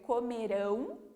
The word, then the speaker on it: comerão: Agora, se eu escrevo ela com a OTIL, além de mudar a pronúncia, que então eu vou ler comerão, eu vou falar ela mais forte, né?